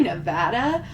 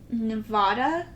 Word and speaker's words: Nevada: more questions also so it's Nevada is that right did I say it right No Nevada Nevada Nevada so is it Nevadans